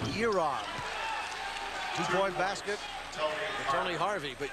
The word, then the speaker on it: Jaron: And it's Rue who comes into the game, and it's spelled Jaron, J-A-R-O-N, but it's pronounced Yeron. Two-point basket, Tony Harvey, but it's Yeron Rue.